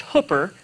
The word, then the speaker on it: Hooper: Hi, I'm Hooper.